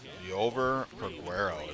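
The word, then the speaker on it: Liover Peguero: and one for four Le over prero is how you say his name holy cow I have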